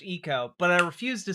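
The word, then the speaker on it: Ico: Also, I do know that the name of the video game IO is supposed to be pronounced Eco, but I refuse to say it right on principle.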